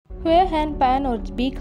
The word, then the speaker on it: Bich: Bich (pronounced “Bick”) came separately, also a refugee.